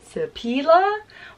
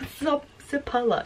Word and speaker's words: Sipola: I said, is it Sipila? Or Sipola. And she was like, Sipola. She said, that's how her mom pronounces it.